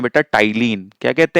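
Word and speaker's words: ptyalin: तो इस salivary M amylase को हम कहते हैं बेटा टाइलीन। क्या कहते हैं? टाइलीन कहते हैं। पी टी वाई एल आई एन जिसमें पी साइलेंट होता है।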